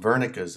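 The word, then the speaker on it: Wernicke: number three is called Vera's area okay W German um so it's pronounced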